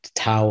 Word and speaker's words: Tao: first book was called Tao of Jeet Kune Do, for instance. So that would be like the Western pronunciation. But actually, it's a more of a D in pronunciation than it is a T.